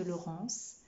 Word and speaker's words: Laurence: ans de mon prénom le nom de laurence qui s'écrit avec un e qui ne fait pas et avec un n tous les deux font en également tu as bien